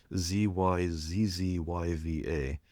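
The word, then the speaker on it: Zyzzyva: there's a tool there's a word study and word lookup tool called Ziziva. I pronounce this the American way because it takes too long to say it both ways. ZizzYva, which its slogan is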